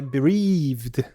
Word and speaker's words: bereaved: Ok, a pronúncia certa é bereaved.